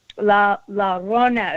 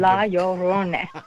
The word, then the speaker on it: La Llorona: La Llorona is how you say it. It's hard to say. You have to roll an R. Yeah, I'm American. La Llorona. Llorona? Yeah, but La Llorona.